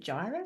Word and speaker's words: Gyra: Did I pronounce that correctly? Is it Gyra? Yes. Yes, as well. That's good pronunciation.